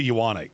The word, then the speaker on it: Ioane: Vega Ioane, good Lord have mercy. I heard his name pronounced 58 different ways, and then he finally came to the combine and went, Ioane.